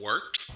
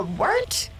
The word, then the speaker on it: Wort: The wort? Yeah, okay, I'll do that again. This is The Wort on Govs Radio. It is the Wort. Not wart, not fort, not short.